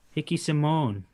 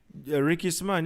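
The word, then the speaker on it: Ricky Simón: i'm looking at rob font and he fought hickey simone am i saying it right ricky saman yeah but how long ago december 2019 not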